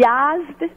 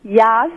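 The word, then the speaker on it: Yazd: like growing up there I grew up in YZ Iran it's spelled y a z d Yas in the is a southern city in Iran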